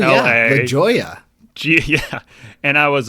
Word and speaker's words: La Jolla: The second one was, which I live in California near La Jolla. It's spelled L-A. La Jolla.